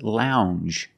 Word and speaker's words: lounge: word is lounge Lounge it makes the regular n n plus the J Lounge it follows the same pattern as orange and change it's a regular n n plus the soft J sound Lounge a lounge is